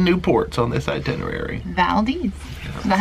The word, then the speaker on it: Valdez: of four brand new ports on this itinerary Valdes that's how you say it yeah that's right Valdes we we ask for a pronunciation cuz you know you could say Valdes